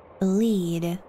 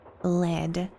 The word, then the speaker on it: lead: wonder if he meant lead as in the word that rmes with with read or the metal kind of lead as in the word that rhymes with red John Gray is just